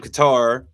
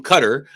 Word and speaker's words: Qatar: billion dollar um airplane from Qatar, uh from Cutter. Uh I think that's the proper way to say it, to our president, which